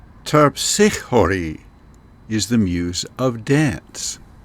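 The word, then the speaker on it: Terpsichore: should warn you that I'm trying to use the original Greek pronunciation and most of the time you will hear the names of the muses pronounced in an Americanized or anglicized version for the English so the way you will hear them pronounced elsewhere might sound different from the way I'm saying them here terpsichhori is the muse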